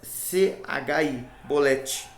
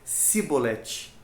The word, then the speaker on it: Chibolete: diz depois xi aqui tá chibolete porém eles dizia simbolete eles não conseguimos pronunciar essa palavra era uma senha os que eram de Gileade tinham uma dicção né no falar um pouco diferente eles falavam o CH